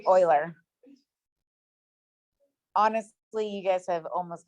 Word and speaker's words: Euler: it rachel was well it looks like euler so it's oiler honestly you guys have